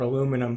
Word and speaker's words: aluminum: This one is the aluminium or aluminum plant, however you want to pronounce it.